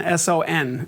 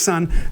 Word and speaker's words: son: son clav like this looks like Sun s o n so it's not pronounced Sun son the Roomba clave is